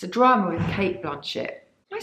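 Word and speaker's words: Blanchett: the Rings how did you say her name Blanchet Blanchet thank you I was saying it it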